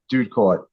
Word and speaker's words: Doodkorte: a fool of myself dude Court I always tell people that rhymes with food court okay that's that would